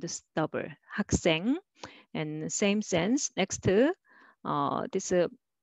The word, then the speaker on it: 학생: First one is syllable by syllable. So try to read separately. 학생. You can make a soft s sound just pronouncing alone, but together you will make 학생, 학생.